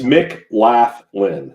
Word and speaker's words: McLaughlin: It's McLaughlin. So anyway, but it's pronounced McLaughlin.